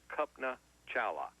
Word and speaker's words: Kalpana Chawla: Her name is Kalpana Chawla, spelled a little different, spelled Kalpana, Chawla, pronounced Kalpana Chawla.